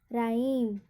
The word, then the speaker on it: rhyme: क्यों नहीं होगा, क्योंकि यहाँ पे स्पेलिंग के पहले ही क्या है, RH है, तो यहाँ पर एच क्या होगा, साइलेंट, राइम।